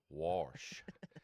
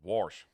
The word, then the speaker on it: wash: She says, "Son, it's pronounced wash." And I'm like, "You lying to me." And yeah, I was freaked out. Like I just in my mind it was warsh.